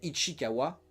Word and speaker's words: Ichikawa: comme Ichikawa, il faut bien le prononcer hein, euh qui est sorti en en 1976 et que je vous conseille de regarder.